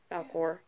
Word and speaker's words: Falkor: Falkor.